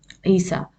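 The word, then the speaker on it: عيسى: So we will pronounce it as a, not ya. So any noun having an alif maksura like Musa or Isa, what happens? We say Musa, Isa.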